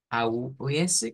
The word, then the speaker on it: aus: Vean, no hay mayor cambio, más que se pronuncia con el sonido U, que no es la U normal, sino del español, sino U, aus, aus.